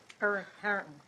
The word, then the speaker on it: Harrington: Commissioner Conaway, do you have any correction of the name of the city, how he pronounces that city? Harrington.